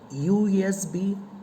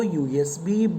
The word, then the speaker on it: USB: at the word usb usb begins with the letter u which is a vowel but when you pronounce it the first sound that you get to hear is yeah or you it is usb not um this usb since ya is a consonant yeah is a consonant